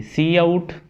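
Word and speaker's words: cout: Next हमने जी return ये जो मेन ब्लॉक है उसके अंदर वाली जो सी आउट स्टेटमेंट है उसके बारे में देखते हैं। सी आउट, इसको प्रोनाउंस किया जाता है सी आउट, इज़ एन ऑब्जेक्ट, ये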